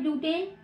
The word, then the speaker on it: ब्यूटीन: Alkene है तो last में मतलब हम जब नाम लेंगे तो उच्चारण में लास्ट में क्या आना चाहिए, इन आना चाहिए, और इसमें क्या आना चाहिए, आइन आना चाहिए।